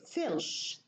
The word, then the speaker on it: filch: Filch becomes, it's deleted. The ta is deleted. Filch, filch, and the cha is reduced.